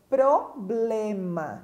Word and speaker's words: problema: fonética com som problema quantas pessoas né tem dificuldade de pronúncia em algumas palavras problema é uma delas o correto problema né então tem dificuldade na articulação dessas consoantes e acaba cometendo este erro de pronúncia aqui também tem a